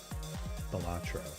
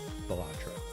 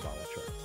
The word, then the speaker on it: Balatro: I say Balatro. So the accent on the second syllable. Balatro. Instead of Balatro.